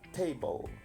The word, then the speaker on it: table: Pronuncia la B y la L. Table. No es table, porque estoy pronunciando una vocal.